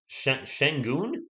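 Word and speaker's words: Şengün: rich i believe uh singing is pronounced shenggoon is it really chris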